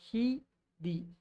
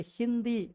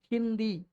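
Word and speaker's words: हिंदी: நா வந்து சைலண்டா மெய்யெழுத்தா உள்ள இருக்கு. அதனாலதான் இது ஹிந்தி அப்படின்னு படிக்கிறோம். ஹிதி அப்படின்னு படிக்காம ஹிந்தி அந்த இன் உச்சரிப்பு வருது பாத்தீங்களா இந்த டாட் அந்த ஹிக்கு மேல இருக்கறதுனாலதான்.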